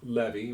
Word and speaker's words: Levi: possibly even tonight the tribe of levie or Levi depending on who's pronouncing it the the tribe of